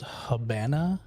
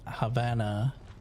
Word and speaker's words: Habana: That's why you'll see some people when they spell the name of the city in Cuba called Habana, they'll spell it with a B sometimes instead of a V because they heard people calling it Havana, but in Spanish it sounds like a B when you say it.